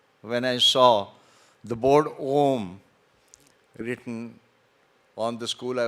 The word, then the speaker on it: Om: very, very important Ucharan, Om, which consists of 3 syllables, A-U-M, as you all know.